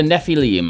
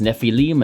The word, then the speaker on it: Nephilim: We all love the Nephilim, although apparently no one can decide how to pronounce it, as Paizo says Nephilim and everyone else says Nephilim.